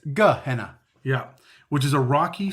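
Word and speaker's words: G'Henna: Gehenna, which is not Gehenna, it's spelt differently. There's an apostrophe, not just a G-E. Yeah, it's Gehenna.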